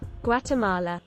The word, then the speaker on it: Guatemala: I have no idea how to pronounce that word. Guatemalan sinkhole? Guatemala.